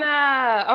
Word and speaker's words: Hannah: this with you earlier but my name is pronounced Hana like Benny Han Hana okay Hana so Hana y'all no problem